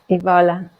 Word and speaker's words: Evola: Is that right? Did I say it right? Yeah, Evola. Evola. That's so much better.